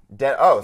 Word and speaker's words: Denholm: Denholm. So yeah, it's like you don't jeans. pronounce the H or the L.